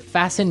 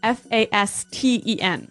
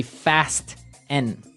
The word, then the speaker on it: fasten: It's spelled f a s t e n. Right. So, it would be fast n. No. No. Right. Fasen. Fasten. The t kind of becomes silent.